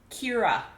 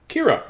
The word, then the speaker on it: Kyra: town like we did it is an Irish name and it's pronounced Kyra Kyra okay I was pretty